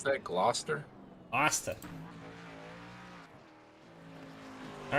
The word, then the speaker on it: Gloucester: the line and he improve that's how you pronounce that gloucester austin all right how about todd mays one